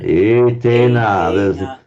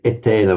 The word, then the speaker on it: etena: etena. The phonetics of English would want us to say etena, but etena. Yeah, okay.